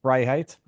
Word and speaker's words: Freiheit: It's Viva Fry, like half of my last name, Fryheight, which means freedom in German.